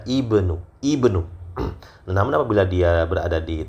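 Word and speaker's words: ابن: Jadi itu tadi intinya, kalau dia berada di awal tidak ada mendahulunya, maka dia dibaca ibnu.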